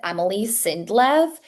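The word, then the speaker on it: Emili Sindlev: Okay, so her name is Emily Sindlov. Emily is spelled E M I L I.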